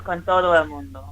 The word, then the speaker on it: Con Todo El Mundo: Which I can imagine kind of segs into the name of the album, Con Todo El Mundo. You should let Laura Lee pronounce it. it's Con Todo El Mundo.